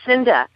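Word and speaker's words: Cynda: That's Cinda. Cinda Williams. She called Cinda.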